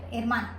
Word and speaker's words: hermana: H is silent, hermana.